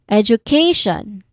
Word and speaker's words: education: This also has four syllables and the stress is on where? Education. What do you think is the stress syllable here? Education. Is it the first syllable? ed. The second syllable u the third syllable K or the last syllable shun.